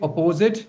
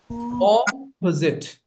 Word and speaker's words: opposite: Don't say don't say opposite. It's not opposite. It's opposite. Opposite.